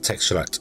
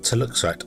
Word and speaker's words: teluxite: So you guys would be doing teluxite, not texturite, teluxite.